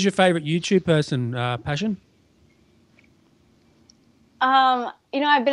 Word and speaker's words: Pashyn: just my first name it's spelled p-a-s-h-y-n so passion and I heard actually